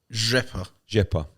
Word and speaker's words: Rzepa: Okay, so I took offence to a tweet from how do you pronounce his name? Rzepa.